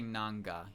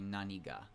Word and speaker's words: 何が: I think it's when you just go to deska after it, when you say nandeska or nan, like, but nan, you don't say nanga, you say naniga.